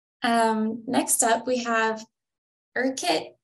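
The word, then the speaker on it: Urquhart: next up we have erkit I think is how at least the the British say it erkit Castle um and this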